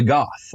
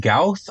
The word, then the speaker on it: Gauth: So today we are tackling another beholderkin creature, the Gauth, or is it Gauth? I'm not actually sure, but I've been pronouncing it as Gauth this entire time, so I'm sticking to it.